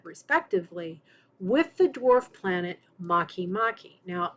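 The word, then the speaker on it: Makemake: with the dwarf planet Maki-Maki. Now, it's spelled make-make, but it's pronounced Maki-Maki.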